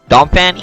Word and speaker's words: Donphan: Donphan EX? Yep. Is that pronounced right?